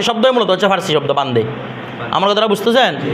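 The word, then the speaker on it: بنده: এটা মূলত বান্দা হচ্ছে উর্দুতে, ফার্সিতে হচ্ছে কি? বান্দে। ফার্সি শব্দ মূলত হচ্ছে ফার্সি শব্দ বান্দে।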